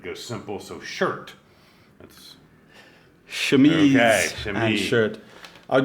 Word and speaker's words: chemise: Well, Of course, it's chemise.